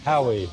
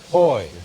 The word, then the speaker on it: Haughey: Howie, how do you say it? Yeah. Haughey. Hoy. Boy, There you go.